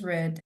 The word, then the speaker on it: read: So the past of read is read. Very good. Oh, but you don't write it like this. Read, read is the same. It's the same spelling, only the pronunciation is different.